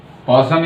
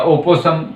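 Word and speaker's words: opossum: पॉसम या ओपोसम, आप दोनों में से कोई भी कह सकते हैं।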